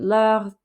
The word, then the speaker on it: leur: Notice that leur, they're both pronounced the same, but the second one gets an S at the end.